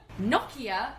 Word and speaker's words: Nokia: and will never die how do you pronounce it shannon nokia thank you and it's a finnish brand and we asked a finished person vera if you're listening